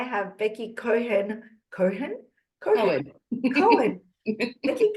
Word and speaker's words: Cohen: Cohen. Becky Cohen. Why did I pronounce the H? What was I thinking? I don't know. Violet Kim. The H is silent.